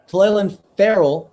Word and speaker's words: Clelin Ferrell: Clelin Ferrell, that's how you pronounce it, out of Oregon, got a piece of it.